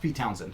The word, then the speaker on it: Pete Townshend: Yeah, but it's pronounced Pete Townsend.